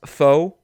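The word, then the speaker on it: Foux: I would even argue more so than the features, being Ohio with Freddie Gibbs, and what I'm assuming is pronounced Foe with Ab-Soul, despite that. It's Foe.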